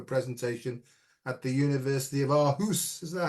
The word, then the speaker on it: Aarhus: I many many years ago I gave a presentation at the University of Aarhus. Is that how you say it? Yeah, Aarhus.